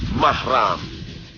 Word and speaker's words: mahram: Selama perjalanan dengan begitu kata-kata muhrim yang sering diucapkan masyarakat dalam konteks ini tidaklah benar yang benar adalah mahram Jika seorang wanita yang